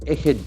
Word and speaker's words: ahead: Okay, so we start with the first word, ahead of. Ahead of is a very important word we can make use of in multiple platforms. Okay, ahead. Ahead. Can you see the accent force of the second syllable?